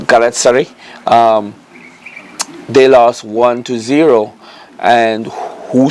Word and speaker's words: Galatasaray: My pronunciation probably be off, but Galatasaray.